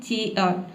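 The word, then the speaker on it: cheer: तो यहां पे आप आर को साइलेंट ही रखें।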